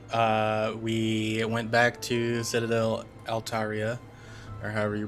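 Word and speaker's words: Altaerein: So last time we went back to Citadel Altaria, or however you pronounce it. Altarian, yes, that one.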